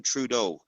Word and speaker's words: Trudeau: think that Canada's president is Justin I can't pronounce his Sur name can you help Minister yeah just Justin TR Justin Trudeau yeah yeah I think trud I think he's